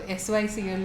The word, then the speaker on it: SYCL: So SYCL is pronounced SYCL.